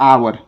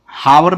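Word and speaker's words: hour: इसको ऐसे लिखते हैं इसको क्या पढ़ते हैं आवर पढ़ते हैं आवर हावर नहीं पढ़ते हैं उच्चारण आपका सही होना चाहिए तो आवर कैसे लिखेंगे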